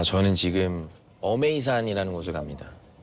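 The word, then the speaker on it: 峨眉山: 아, 저는 지금 어메이산이라는 곳에 갑니다. 한자로는 이제 아미산이라고 읽기도 하는데 무협 소설를 읽다 보면 소림 무당 아미파라는게 있습니다.이 문파가 되게 특이한게 뭐냐면 여성 문파로 많이 표현이 됩니다.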